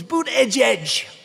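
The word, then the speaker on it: Buttigieg: I think it was boot edge edge boot edge edge they said think of it as boot and then edge edge because nobody can pronounce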